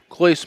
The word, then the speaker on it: Clois: Clois. Clois. Great. I did it. I said it right. Clois it is.